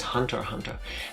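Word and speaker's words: Hunter × Hunter: okay that makes sense it's pronounced Hunter Hunter but why did they put an X in there like I I'll take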